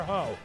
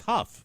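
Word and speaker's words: Hough: Is it Huff or Ho? I don't know. From Huff. Huff, maybe, I don't know. From Glee, but anyway, the so GH is pronounced Huff. so it's Huff, Julianne Wait, Huff.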